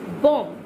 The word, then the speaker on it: bomb: So just see bomb, bomb, b o m b. Did you notice I pronounce bomb, bomb, not bomb, no, bomb, b o m b.